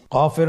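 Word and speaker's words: كاف: কাফ উচ্চারণের ক্ষেত্রে অবশ্যই পাতলা করে উচ্চারণ করতে হবে এবং তিন আলিফ টেনে পড়তে হবে।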